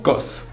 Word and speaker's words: KAWS: Que los que cómo se dicen, que el caos, que no sé qué, la pues Cos es como la pronunciación que podría ser un poco más acercada a como debe ser.